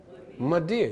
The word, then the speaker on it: mother dear: Her title of respect is M-O-T-H-E-R-D-E-A-R. How you pronounce it? Madeir. You don't say mother dear, it's Madeir. It's elided.